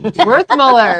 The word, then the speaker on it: Werthmuller: Werthmuller.